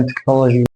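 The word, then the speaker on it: technology: ميكانك ميكانك خد بقى كلمات كتيره زي مثلا تكنولوجي تكنولوجي استماك يعني مادى استماك وهكذا يبقى حرف ال يبقى حرف الاتش بينطق مثل الهاء في اللغه العربيه بينطق شين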